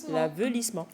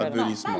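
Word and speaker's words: aveuglissement: L'avelissement. L'avelissement. Pas Avelissement. l'avilissement. L'avelissement. Ça s'écrit Oui.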